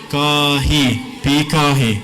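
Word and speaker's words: ⲡⲓⲕⲁϩⲓ: this is a pi, so it's pronounced like a P. Next letter is an I, next letter looks and is pronounced like a K. Next one looks like an A, pronounced like an A. This one we talked about. And this is an I. So the word would be Pikahi.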